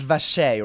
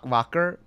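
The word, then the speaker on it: Wriothesley: how to say it it's vashay right not vacar oh my God we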